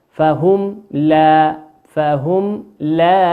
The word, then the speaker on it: فهم لا: كيف تنطق؟ فهم لا يفقهون، ولا تنطق ولا تدغم ولا تدغم، فهم لا. لماذا؟ لأن الحرف من حروف الإظهار الشفوي.